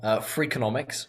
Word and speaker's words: Freakonomics: The two books, that one's a sequel of the other one, Freakonomics, which is spelt freak like FREAK, onomics like economics, and then there's Super Freakonomics, which is the next one.